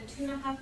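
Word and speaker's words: Ktunaxa: It involved the Tunaha people. For those of you who may have read it, it's spelled K-T-U-N-A-X-A.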